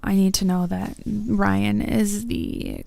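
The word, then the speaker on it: Raihn: Uh, I want to say Rain in my head. However, uh, I need to know that Ryan is the correct pronunciation.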